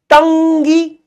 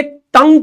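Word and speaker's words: tongue: तो टी ओ एन जी यू ई क्या होगी? उस हिसाब से क्या होना चाहिए? टंगी। डेंग अरे इसका प्रोनाउंसिएशन क्या है? डेंग ऐसे तो प्रोनाउंस करते हैं अपन इसको। डेंग तो फिर ये तंग क्यों है? ये क्या होना चाहिए था?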